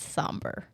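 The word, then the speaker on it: sombr: I think that I'm going to lean towards Somber. Okay. And that is how you say it.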